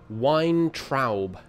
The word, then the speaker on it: Weintraub: Stanley Weintraub. That's wine as in Weinstein, and then T-R-A-U-B.